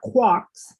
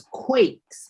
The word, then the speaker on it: quakes: It's not quarks. It's quakes. We have a long a earthquakes. Okay. Earth quakes.